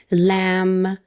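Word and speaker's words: lamb: کافی قهوه میت گوشت به صورت کلی لم گوشت بره بی سایلنته تلفظ نمیشه یادتون نره اورژینز به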